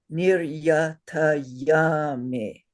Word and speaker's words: niryatayami: And the proper way to say it is niryatayami. Say Yatayami. not yami, yummy. Yummy.